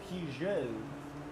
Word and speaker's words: Peugeot: It's not pronounced Pukit, by the way, Chad. It's Peugeot.